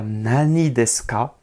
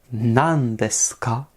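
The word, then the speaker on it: 何ですか: s'écrire en kanji mais la prononciation va changer on va pas dire nanesca mais on va dire nandeskaa donc le Nani devient nan pour les lieux le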